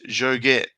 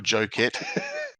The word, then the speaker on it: Joget: It's Joget. And I've pronounced it right this time, not Jocket Yeah. or Joket.